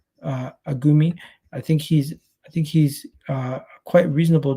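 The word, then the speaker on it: Agoumé: Lucien Agoume. That's how you pronounce it. Agoume.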